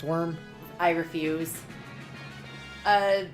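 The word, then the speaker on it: wyrm: w yrm worm uh which many people still pronounce worm because it is pronounced worm I refuse uh like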